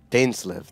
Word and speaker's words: Dainsleif: Dainsleif. That's how you pronounce it.